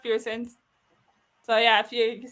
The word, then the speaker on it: Person: It's Pierce, spelled Person, but pronounced Pearson.